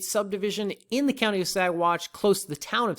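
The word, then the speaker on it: Saguache: county the county of sagwatch sagwatch briefly i just want to say this so the g is silent in sidewatch and uh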